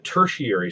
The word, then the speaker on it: tertiary: I know as that really is how it's pronounced it doesn't look that way but it is the tertiary sector so when we these are each connected